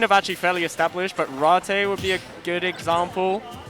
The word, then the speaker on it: Ratte: I don't know if because ratte we pronounce it just because of our Japanese people pronounce it please latte like latte like the drinking yes um I don't